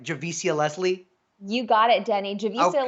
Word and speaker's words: Javicia: Javicia Leslie.